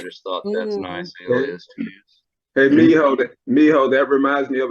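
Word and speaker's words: Mijo: Spanish speaking gentlemen pointed that out that it's pronounced Miho meaning my son and I just thought well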